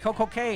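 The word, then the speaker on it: Coco Cay: it could be k just don't tell me coco k is coco key that's stupid a perfect day at coco key that's stupid just don't do it it's a perfect day at coco k let it rhyme let it flow call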